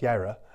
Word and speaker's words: Jireh: place Jehovah Jireh now the Jireh is a hebrew word pronounced Kyra that means that means to see but also has a